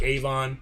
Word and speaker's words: Avon: Deb being from Michigan it sounds like Avon but apparently new yorkers pronounced a little bit differently we ran a vaughn